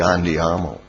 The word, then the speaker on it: andiamo: Invece l'A, quella col segno lungo sopra, That's like andiamo.